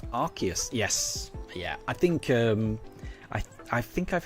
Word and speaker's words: Arceus: And Pink Horizons, according to the Pokemon Encyclopedia, Arceus is pronounced Arceus.